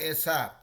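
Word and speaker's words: ASAP: तो इसका यूज़ होता है, इसको प्रोनाउंस करते हैं एसैप। ये मतलब एज सून एज पॉसिबल नहीं बोलने के बदले लोग शॉर्ट में एसैप बोल देते हैं, ठीक है?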